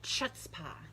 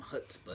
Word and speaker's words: chutzpah: got 'cause some chutzpah.